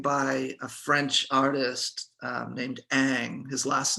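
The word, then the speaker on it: Ingres: is a painting by a french artist named aang his last name is spelled i-n-g-r-e-s in case anybody's interested in looking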